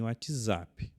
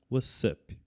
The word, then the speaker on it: What's up: Então, preste atenção na pronúncia. É a com som de dois s. Ok? Nada de falar e nem WhatsApp. What's up?